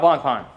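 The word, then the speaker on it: Blancpain: Okay, so what do you know about Blanc Pon? I know that it's pronounced Blanc Pon.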